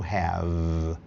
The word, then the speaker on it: have: usa corretamente o verbo have, ter. Lembrando que E final quase nunca tem som e o V faz a corda vocal vibrar. Fala vá, vá, viu, vivi. Arreganha a boca e uma sílaba só.